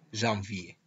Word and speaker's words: janvier: Le premier mois s'appelle janvier. El primer mes se llama enero. Janvier, janvier. Es importante pronunciar bien la V pronunciando el sonido v.